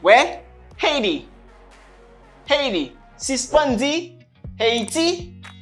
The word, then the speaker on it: Haiti: Haiti. Haiti. Une dernière fois. Haiti. M'gen H, m'gen H. Haiti. Haiti. Attention. Moi gen T dans bitan deux voyelles.